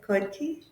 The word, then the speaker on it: Khodke: make sure I say this correctly a detailed code key is that the right pronunciation okay yes so it's yes and